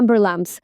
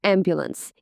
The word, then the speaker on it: ambulance: з розбитим носом каже call the Amber lamps бо не може вимовити слово ambulance Ома Nail Someone to